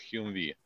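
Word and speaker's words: Humvee: Значит, правильная аббревиатура HMMWV, произносится как HUMVI.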